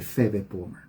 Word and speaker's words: Phoebe: porque voy a escribir su nombre es prácticamente feve ayer hablé de esta de este personaje pero es importante se escribe así en inglés aunque la pila h